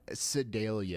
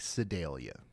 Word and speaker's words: Sedalia: It's not Sedalia. It's more like Sedalia.